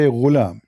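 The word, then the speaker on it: غلام: Al-ghulam بضم الغين, which mean you say ghulam. It's saying you how to say it.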